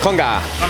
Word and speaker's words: con gà: Con gà.